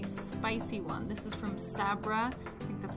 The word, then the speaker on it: Sabra: use is a spicy one this is from Sabra that's how you pronounce it and it just gives it a